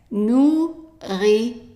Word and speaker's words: nourriture: And be careful with the T here. It's pronounced as a T, not as ch, as in English. So it's tu, not chu, tu. The last E here is silent.